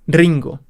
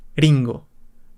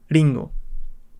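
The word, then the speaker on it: りんご: No puedes decir Ringo, es Ringo. Ringo. Pues lo pronunciaríamos con el sonido inicial de una R.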